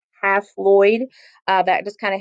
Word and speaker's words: haploid: at how they're represented these haploid cells or i like to pronounce them as half lloyd uh that just kind